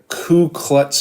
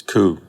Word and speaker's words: Ku: what do like Ku Klux Klan? I can't even say the fucking word properly. How do you say it? Is it Klu or is it Ku? It's Ku.